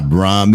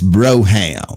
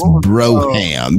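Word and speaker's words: Brougham: see see people don't understand that's how you pronounce that it's not Braum it's Broham that's that's how you pronounce that that's Broham exactly the great white he kept talking I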